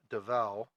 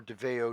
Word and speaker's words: Davao: want to try and open up Davao or Davao, depending on where you come from. Either pronunciation is correct.